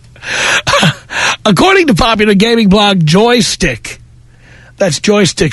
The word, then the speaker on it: Joystiq: to home base according to popular gaming blog joystick that's Joystiq spelled with a Q yeah to feminists game sites